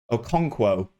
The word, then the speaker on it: Okonkwo: say this guy's name arthur um okonkwo is how he's told me to say it and i believe that is correct so please do